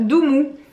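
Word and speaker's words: Doomoo: Et donc en fait c'est Doumou parce que c'est doux et c'est mou.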